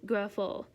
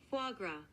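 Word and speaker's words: foie gras: Fois gras. Man, I got it basically right in a way. No, it's actually fois gras.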